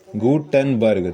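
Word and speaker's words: Gutenberg: अब बी आर बर्ग हो गया ठीक है गुटेनबर्ग तो गुटेनबर्ग ठीक है जोहानसन गुटेनबर्ग गुंडन बर्ग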